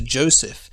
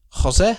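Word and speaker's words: José: written names equivalent to joseph in spanish and portuguese are pronounced differently jose spanish and jose portuguese the english language which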